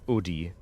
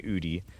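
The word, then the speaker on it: Oodie: Um, which for those who don't know, it's a well, it's it's pronounced Udi, but I don't like saying Udy cuz it sounds dumb to me. I like saying udie, which isn't that much better, but basically it's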